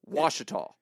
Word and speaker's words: Ouachita: Actually, the last syllable is the only syllable that makes any sense. Washita. Oh, shut up. That's ridiculous. It sounds like it's spelled Washitah.